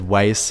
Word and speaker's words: Weiss: there's a play because weiss rhymes with ice yeah that's tacky a